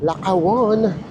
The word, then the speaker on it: Lakawon: Lakawon. Here we come. Yun pala yung pronunciation na naririnig namin. Dapat mabilis.